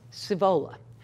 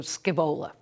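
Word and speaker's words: Scaevola: may have started mentioning this is not pronounced as spelled so it is spelled s c a e v o l a but it's pronounced civola so somewhere it's like as opposed to scibola when i first saw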